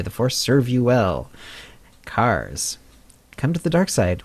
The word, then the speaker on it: Kaz: Pronounced Cars. The H is silent.